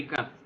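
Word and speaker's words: ك: বাংলা ক এর মতোই উচ্চারণ, আরবি কাফ।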